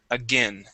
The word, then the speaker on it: again: that you read okay the AI actually makes a short I sound okay the word is again again again uhhuh one more